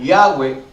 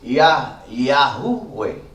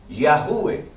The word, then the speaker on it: Yahweh: dado un mal sonido, porque en el medio hay una hey, y la hey tiene que tener sonido de J. Por ejemplo, sería más correcto decir Yahuweh. Yahuweh. Sería más correcto no decir Yahweh, porque entonces la letra hey, que es la H, se queda muda.